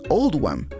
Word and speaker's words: Oldham: se hizo para reflejar la pronunciación de oldham en el acento local que es old wam en consecuencia rendir homenaje